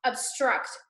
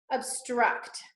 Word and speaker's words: obstruct: We're gonna do obstruct together, okay? Obstruct. So this one, the accent is after the T, after the end of the word.